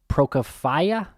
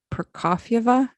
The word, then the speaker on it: Prokofieva: by the name of Alia Prokofiev. Is that how you pronounce that, Jen? I mean, I'm not too good at my Russian pronunciation, but I think it's Prokofieva.